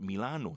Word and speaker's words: Milano: And Italians pronounce the I like an E. So they call it Milano. The city of Milano.